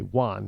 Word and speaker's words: Juan: all of a sudden it's a W instead of the J. Juan, like you won something.